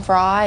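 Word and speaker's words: Frey: to be in Linda Rad's backing band Glenn Fry and Don Henley I met them at the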